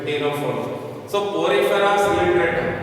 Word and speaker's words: Ctenophora: That is why after Coelenterate it has been written as Ctenophora. C is silent here. Ctenophora.